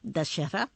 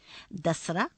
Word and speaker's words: दशहरा: इसे आम बोलचाल के शब्दों के दशहरा और देहाती उच्चारण में दसरा या दशहरा भी कहा जाता है।